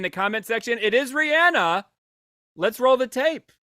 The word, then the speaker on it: Rihanna: comment section, it is Rihanna. Let's roll the tape. How do you say it? Rihanna. Rihanna's correct. But technically, it is. I say Rihanna. I also know that it's Rihanna.